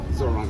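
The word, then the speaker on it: Zohran: I'll put my bucks on Zoran.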